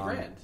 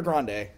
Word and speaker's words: Grande: The Grand. Yeah, is it Ariana Grand? Large. Is it Grand or Grande? Oh, Grande. Okay.